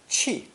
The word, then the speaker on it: 汽: Pronounced 4th tone, qi, qi.